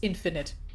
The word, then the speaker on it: infinite: I'm still annoyed by the fact that it's pronounced finite, but the opposite is pronounced infinite.